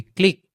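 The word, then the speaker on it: clique: অর্থাৎ আমরা দেখলাম যে তিনটা শব্দ কিউইভি একসাথে থাকলে তার উচ্চারণটা হয় ক্ষয় এর মতো। তারপরে সি এলআই কিউইভি। ক্লিক।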